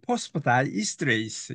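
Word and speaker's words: phosphodiesterase: 어 보면 앞에 거도 마찬가지고 어 발음을 좀 보면 포스프다이스트레이스 이렇게 발음합니다.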